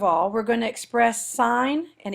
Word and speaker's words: sin: we're going to express sign and even though it looks like sin it's pronounced sign we're going to express